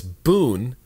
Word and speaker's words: Bund: their government is, and he sounded out for me. He said bun or B-U-N as in Pat Boone. So it's Boone and then Das, like in dad.